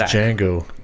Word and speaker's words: Django: c or x aq my name is django the d is silent yeah django the django